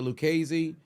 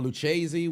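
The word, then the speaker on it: Lucchese: So, you have the Genevese, the uh the Genevese, the Lucesi or Luchesi, whichever way you want to pronounce it.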